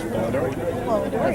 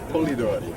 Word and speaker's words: Polidori: First off, how do you pronounce Polidori? Correct, Polidori. If you're in Italy, it's Polidori.